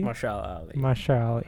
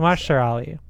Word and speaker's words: Mahershala Ali: Mahershala Ali. I think Mahershala Ali. I think so. That don't actually know sounds a 100%. lot better than what I first said.